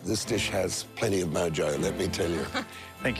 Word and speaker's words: mojo: really Splendid quality and I know you pronounce it uh moho but this dish has plenty of Mojo let me tell you